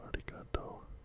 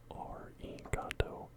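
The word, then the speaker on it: ありがとう: And the R here, your pronunciation, a lot of people think it's arigato, but the way you pronounce the R here is sort of just quickly touching the tip of your tongue to the back of your front teeth. Arigato, arigato gozaimasu.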